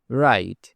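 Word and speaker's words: wrong: Right. এখানে W silent right মানে লেখা যেমন আমি লিখি আই রাইট আই রাইট সে চিঠি লেখে he writes a letter he writes a letter আবার রং এখানেও ডবলিউ সাইলেন্ট রং মানে ভুল এটা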